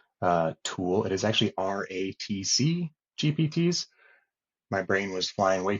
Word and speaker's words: RATC GPTs: um meme magic uh tool it is actually RTC gpts my brain was flying way too fast yesterday I was calling them rat c gpts um for some crazy reason so ratc gpts